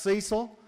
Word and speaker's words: Cecil: is from Tennessee hence the name Cecil it's pronounced Cecil and they used to say y'all be doing